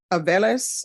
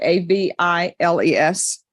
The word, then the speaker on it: Aviles: There's to be no contact with Maria Guadalupe Aviles. I guess that's how you pronounce it, a v i l e s. Aviles.